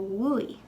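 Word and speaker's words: bhuaigh: In this case, a U comes after it. So we'll go from buoy to wooey.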